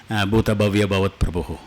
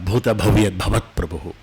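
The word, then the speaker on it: भूतभव्यभवत्प्रभुः: I may be seeing Mahaprana, but still I may be pronouncing Bhuta Bhavya Bhavat Prabhu instead of Bhuta Bhavyat Bhavat Prabhu.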